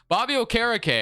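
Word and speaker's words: Okereke: well which I think I finally know how to say his name I you know I heard him say it on Saturday Night Football last night so Bobby o'cara Kay I used to never say it right I don't even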